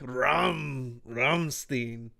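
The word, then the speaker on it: Rammstein: all you gotta say you gotta say it like rum ramstein yeah yeah maybe if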